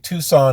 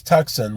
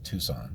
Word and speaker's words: Tucson: it's sans simone arizona just like tucson is tucson not tucson and if you think it's tuxen well then you need